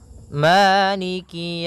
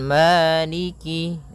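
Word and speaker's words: مالك: kemudian Maliki yaumiddiniki yaumiddin pada bacaan Maliki di lafal Ma ada hukum tajwid berupa mad thii yaitu adanya fathah bertemu dengan alif panjangnya dua harakat Maliki kemudian Kaf di sini ada huruf kasrahnya maka sempurnakan kafnya jangan seakan-akan diputus misalnyaikik jadi kemudian kasrahnya juga disempurnakan jangan sampai dibaca dengan E tapi dia iikiikiumin pada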